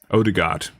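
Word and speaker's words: Ødegaard: yeah and um ah i always forget how to pronounce his name odigard i think is the correct pronunciation the guy at real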